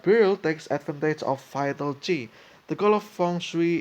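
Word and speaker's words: qi: Ki, pronounced Chi, okay, is a movable positive or negative life force, which plays an essential role in feng shui.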